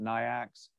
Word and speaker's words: NAICS: You look at, if you're in janitorial services, 561720, So if you haven't been on the class, NAICS, I'm saying it NAICS, some people pronounce it NIACS.